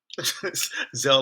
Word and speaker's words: Zell: Zell like sending me money.